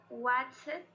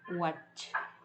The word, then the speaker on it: watched: Watched. Julieta. Con T. Ok, con T porque el Watched. Es no vibrado, lo empatamos con no vibrado.